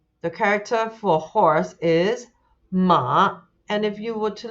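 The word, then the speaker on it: 马: Actually, the sound of the character sounds like the way it neighs, right? Meh, but it's ma, ma. So the character for horse is ma.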